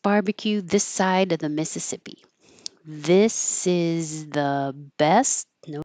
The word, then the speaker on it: Mississippi: A lot of letters but not very many uh syllables. Mississippi.